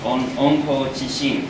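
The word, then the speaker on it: 温故知新: In Japanese, it's pronounced onko chishin, which is if you know the past, you will know the future.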